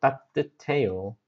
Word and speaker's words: 따뜻해요: So it sounds like 드 and 드 and 흐 meets. Then what happens? 트. So 따뜻해요. 따뜻해요 is the correct pronunciation. Not 따뜻해요, but 따뜻해요.